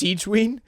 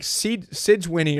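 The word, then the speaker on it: Sigewinne: Wait, it's pronounced exact- it's pronounced Siegeween? I was calling her like Sidgewinnie or something.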